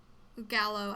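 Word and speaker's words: Galo: all leave the store um in comes Galeo Gallo I can never say his name right yeah it's just it's spelled g-a-l-o gallo he runs to you and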